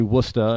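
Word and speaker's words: Worcester: England in Massachusetts I do try to say wora and I do try to say PE instead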